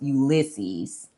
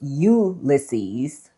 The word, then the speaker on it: Ulysses: And then in Latin, which I'm pretty sure is the way that James Joyce pronounced it, it is Ulisses. Ulisses. So, the Y is not pronunciated.